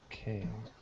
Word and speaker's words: quai: It comes from the French word, but it's pronounced like K.